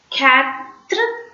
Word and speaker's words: quatre: Quatre. So if you see QU, you should not pronounce the alphabet U separately. QU is combinedly pronounced as K. That's all.